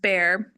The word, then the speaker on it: Bexar: and is it just Bexar County if anyone else wants to know pronounced bear even though it does not look like that so I knew that